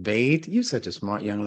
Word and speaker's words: bait: In Hebrew, it's pronounced bet. In Arabic, it's pronounced bait.